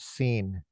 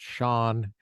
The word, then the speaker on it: Sean: had eric i think his first name is pronounced scene i'm kidding that was a joke i'm sorry i apologize all the americans are laughing but it's actually pronounced shawn and it's not it's an irish it's an